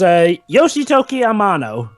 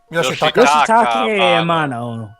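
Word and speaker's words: Yoshitaka Amano: It was, Yoshitoki Amano. Who? Yoshitake Amano. Fucking pronunciation, Jova.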